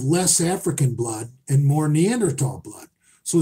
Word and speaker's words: Neanderthal: African blood and more Neanderthal blood. So it's really, how you want to fucking skin the cat. Neanderthal. The H is silent.